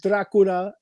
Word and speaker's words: Dracula: Dracula Dracula I I pronounce it in more the Romanian um I go back and forth but drula is is uh one of the ways that I've always heard it pronounced but but Dracula is just fine oh man see look